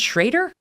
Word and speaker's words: Schroeder: name is bruce it's it's written schroeder but it's pronounced schrader it is yeah and